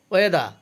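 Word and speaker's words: weather: ওয়েদা অর্থ আবহাওয়া, এখানে ওয়েদার হবে না, এটা হবে ওয়েদা অর্থ আবহাওয়া।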